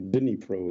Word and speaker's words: Dnipro: Going from Dnipro, or Dnipro as we pronounce it, it's the 4th largest city in the country.